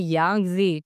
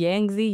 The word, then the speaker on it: Yangtze: इसे कहते हैं यांगजी टी साइलेंट होती है यांगजी यांगजी कहते हैं।